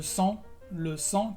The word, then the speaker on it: sang: O también, por ejemplo, lent, que es lento, la T no se pronuncia.